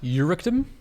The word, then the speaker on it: Urectum: Yes, it's actually pronounced Eurectum, which doesn't sound any It better. doesn't sound any better.